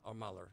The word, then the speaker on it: Mueller: How, No, do, you- how do you pronounce it, Glenn? I say it either Miller or Muller.